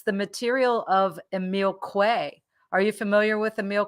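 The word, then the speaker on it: Émile Coué: not his material and it's the material of emil quay are you familiar with emil quay no i'm not yeah milkwey uh i'll i'll drop his uh actually i'll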